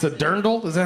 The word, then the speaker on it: Dirndl: it's a dirndl. Is that how it's pronounced? Yeah, it's a A dirndl.